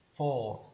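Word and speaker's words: four: E existe, na verdade, duas formas diferentes de você pronunciar essa palavra, né? Você pode tanto pronunciar for, né, puxando o R, né, for, como se você quiser, você pode apenas alongar o som e não puxar o R.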